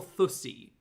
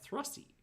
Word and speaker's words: Thrusty: Is it pronounced Thrusty or Thussy? Thrusty? There's an R in there. Thrusty.